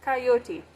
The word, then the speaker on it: coyote: the road uh yeah kyote that that is the proper pronunciation for coyote so coyote but I will periodically say coyote and rattler so Kai oat so there aren't any